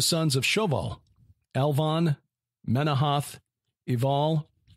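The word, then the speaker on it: Ebal: of shoval elvon menohoth eval as in mountival um possibly yeah spelled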